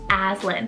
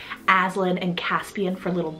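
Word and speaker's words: Aslan: here i have the name azlin phil a-s-l-a-n aslin if you are a literary or book worm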